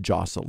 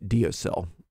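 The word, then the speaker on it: deosil: It's pronounced jocel in Gaelic. However, most English speakers use the spelling and sound it out phonetically, and we say diocel because the correct pronunciation might not be widely recognized.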